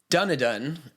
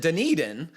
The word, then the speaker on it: Dunedin: work and in 259 you said dunadan and he says you pronounce it dunedin i live in queenstown